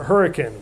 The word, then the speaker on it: Hurricane: a city in southern Utah spelled hurricane we pronounce it hurricane we don't go hiking in the mountains go